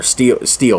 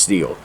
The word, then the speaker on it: Stihl: And just something I remember always, like it was this I think Stihl was or Steel, that's how you pronounce it, the Stihl I think, but I think it's pronounced Steel.